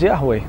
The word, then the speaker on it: Yahweh: is the tetragrammaton before letter expression YHVH pronounced by some as yahweh and declared to be too sacred to be pronounced by many rabbis and there are other